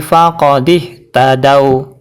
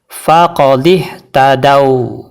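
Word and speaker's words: فقد اهتدوا: diwaakaf Bagaimana cara bacanya yaitu masukkan huruf Dal ke huruf Waw Dal tidak boleh dibaca panjang cukup dibaca satu harakat saja contoh ini terdapat dalam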